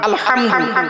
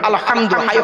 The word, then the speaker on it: আলহামদু: করি আলহামদুলিল্লাহি রাব্বিল আলামিন আলহামদু আমার বাপেরা গলা থেকে উচ্চারণ করবেন আলহামদু আলহামদুলিল্লাহ মানে হচ্ছে সমস্ত